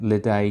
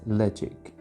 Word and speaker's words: Ledaig: the ledge ik ten-year-old it's spelt led AIG it isn't ledee gets ledge ik they're both from the